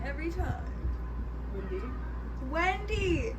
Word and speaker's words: Wendy: It's not W-I. I don't try and say it like that. Well, you do. Just how you say pillow. You Wendy. use the E for pillow, but not for Wendy.